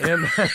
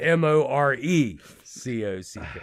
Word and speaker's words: Moorcock: Black Blade, the lyrics were actually contributed by another sci-fi writer, Michael Moorcock, who, yes, that's his name. That's his name. Jesus, let's turn into a gay joke. Moorcock. Not Morecock.